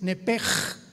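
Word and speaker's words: נֶפֶשׁ: Neph se pronuncia en el hebreo como JLS, es nepej. Nep. Por eso el Espíritu Santo se pronuncia roaj, se escribe roach, ch. Roaj, el cadosh. Entonces, la sh se pronuncia como J.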